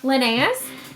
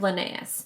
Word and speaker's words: Linnaeus: I'm thinking is how you say that name, Linnaeus.